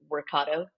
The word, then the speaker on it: Workato: when you were at Wakato. Is it pronounced Wakato or Wakatu, by the way? Just I've heard it all. I think people say Workatu. It's actually Workato.